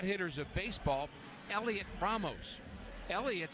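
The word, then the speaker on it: Heliot: of the hot hitters of baseball Elliot BR Elliott spelled h e l IO T but the H is U not worthy of pronouncing so it's just Elliot Elliot Ramos he's a strong looking guy at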